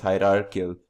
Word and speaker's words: hierarchical: called a hierarchical inheritance apart in my mispronunciation it's hierarchical inheritance so in this case